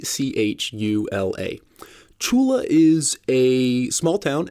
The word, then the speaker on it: Tchula: the former police chief of Chula Mississippi and that's spelled t c h u l a Chula is a small town in the middle